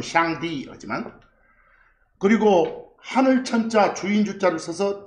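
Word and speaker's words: 上帝: 상제 그들 발음은 샹디.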